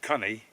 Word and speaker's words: Coney: of the young uh Coney are actually properly pronounced Connie was uh was the